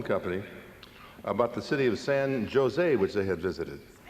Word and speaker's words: San Jose: about the city of san jose which they had visited san jose and the guy says no no bill in california the the j is pronounced like an h and then he asked